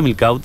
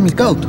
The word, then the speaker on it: Milkaut: ¿Se pronuncia Milkaut? No, Milkaut. Milkaut. Milkaut.